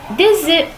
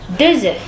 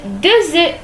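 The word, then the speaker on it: deux œufs: Qui veut dire que ces mots se prononcent E, un E, un, 2 E. On ne prononce pas le F à la fin, pas un œuf, 2 œufs, non. Un E, 2 E, voilà comme ça.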